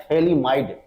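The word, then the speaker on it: thalidomide: साथ जुड़ा हुआ है उसी को बोला जाता है थैली माइड पीच साइलेंट होता है अब कैसे थैली माइड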